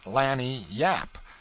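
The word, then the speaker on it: lagniappe: limber expressive handy word lanyap they pronounce it lanny yap it is spanish so they said we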